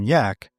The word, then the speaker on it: Jack: begrudgingly respectful nicknames of Captain Jack, pronounced Captain Yak, and Bravo Too Much or Brave Too Much.